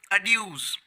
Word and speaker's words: adieux: और ये एक नाउन है, नाउन यानी संज्ञा, और इसकी जो प्लूरल नाउन होती है वो होती है अड्यूज, जिसकी स्पेलिंग है ADIEUX या फिर ADIEUS, यानी दोनों स्पेलिंग है इसमें।